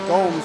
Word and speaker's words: Gomes: And if you didn't know, Gomes rhymes with Holmes.